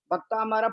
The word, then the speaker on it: भक्तामर: जैसे भक्तामृत स्तोत्र में क्या होता है, भक्तामर प्रणत मौली मणि प्रभाणा, यह शुद्ध उच्चारण है।